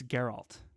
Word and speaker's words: Geralt: such great things about am i saying it right geralt it's geralt geralt yeah um yeah i